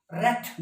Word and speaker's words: wrath: या WRI, RIGHT अलग चीज है, यहाँ W साइलेंट, राइट। रेथ, गुस्सा, WRATH, रेथ।